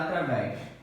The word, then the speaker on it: através: Vamos ver agora da palavra através. Através. A última sílaba é tônica. Então é uma oxítona.